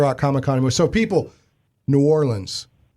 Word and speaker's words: New Orleans: So, people, New Orleans. That's how you say it. That is the relaxed, cool way to say it. And now you know.